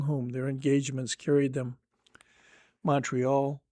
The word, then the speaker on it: Montreal: Montreal, or according to their own pronunciation, Mariel was their depot.